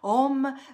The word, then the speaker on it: Om: Quando le sentirai vibranti, formicolanti, caldi, questi palmi delle mani, li apriremo e poi insieme proietteremo questi OM tre volte, pronunciamo bene la M, OM, vedendo che luce potente raggiunge quella terra e raggiunge le coscienze, tutte.